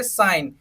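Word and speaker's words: sign: जैसे कि पहला एग्जांपल देखिए, साइन, एस आई जी एन, तो यहाँ पे एस आई एन साइन बन गया, जी को साइलेंट कर दिया हमने तो ये क्या बना, साइन बना।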